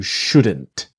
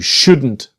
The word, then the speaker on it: should: changing the word order should you should you buy it now or should I etc. The important thing is the L is silent.